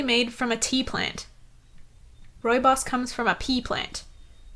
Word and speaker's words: rooibos: said rooibos was a wait let me say it Roy boss Roy boss boy boss Roy boss sane again Roy boss okay so Roy boss so you know and